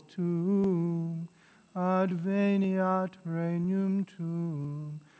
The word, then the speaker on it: tuum: Right, you hear the two syllables, tuum, adveniat regnum tuum.